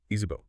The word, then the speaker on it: Izipho: Our focus today is this compelling concept called Izipho, that's pronounced Izipho.